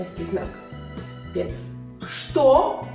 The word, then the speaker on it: что: Что. No decimos chto, es что. Что у тебя.